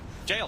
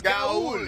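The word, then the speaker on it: gaol: That's how you pronounce Gaul? Jail. Jail. Wow! Jail, yeah. I thought it was Gaul. Yeah, you thought Gaul made more sense than jail. I thought it was foreign. It's an old English spelling.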